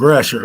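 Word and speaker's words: Gratiot: That's 8 Mile and Grasher.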